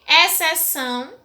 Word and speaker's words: exceção: com X e C, exceção, mas tem o som de S. Então, exceção é um dos exemplos de palavras que se escrevem com X e com C, mas tem o som de S, tá?